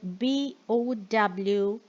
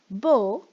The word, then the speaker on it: bow: Let's talk about the word BOW, which can be pronounced as bow when you are referring to the weapon that is shown here, or it could be pronounced as bow in case when you mean to bend your body or incline the head in salutation or to show respect. Bow, bow.